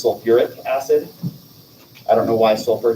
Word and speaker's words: sulfuric acid: syllable back in um if it's sulfate it's not sulfic acid we actually put the ur back in for sulfur so it becomes sulfuric acid i don't know why